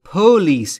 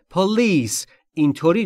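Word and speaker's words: police: پلیس دقت بکنید دوستان تلفظ پلیس استرس روی ال و روی پی نیست یعنی نباید بگید پولیس این اشتباهه پلیس اینطوری درسته در واقع استرس روی ال روی بخش دوم ک پولیس به پلیس زنگ بزنید پولیس Pleas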